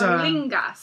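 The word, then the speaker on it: Éorlingas: But it's Aeorlingas.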